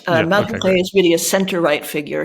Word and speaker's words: Malhuret: Malhuret.